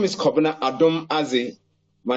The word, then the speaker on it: Adomadzi: The spelling is quite unusual to many people, but they know how to pronounce it. My name is Adomadzi.